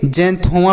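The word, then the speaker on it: xanthoma: इसे हम क्या पढ़ेंगे जैंथोमा पढ़ेंगे क्या पढ़ेंगे जैन थोमा तो एक्स का उच्चारण ज के रूप में तो जे एन से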